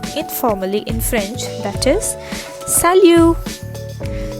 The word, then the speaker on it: salut: in french that is salu so that this is not salute this is salu all right so here